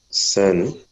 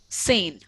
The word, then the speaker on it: zehn: Sen. Sane. Yeah. Z is pronounced as sir, so it is sane.